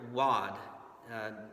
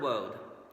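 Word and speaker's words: Waud: we have this fella looks like it's Alfred wad just kind of a tongue twister there but it's actually pronounced Road believe it or not like you're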